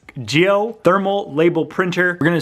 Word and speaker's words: Jiose: set up your geo i think it's called geo i called it josie because of the s but i think the se is silent it's geo thermal label printer we're